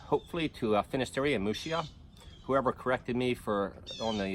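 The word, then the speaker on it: Muxía: John Peter pour all the ways hopefully to a finished area mushiya whoever corrected me for only yes pronunciation of mushi I thank you they did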